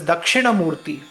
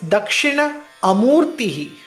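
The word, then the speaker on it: Dakshināmūrti: It is Dakshina Amūrti. That is the exact sandhi, the splitting of the word.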